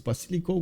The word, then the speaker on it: basilico: with error score okay in Italian it's Basilico with a short a in uh French it's